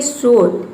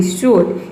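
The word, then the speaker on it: sword: एक साथ आया है तो यहाँ पे डब्ल्यू साइलेंट है। उसी तरह से यहाँ पे देखिए शोट, एस डब्ल्यू ओ आर डी, शोट, इसमें एस के बाद क्या आया है, डब्ल्यू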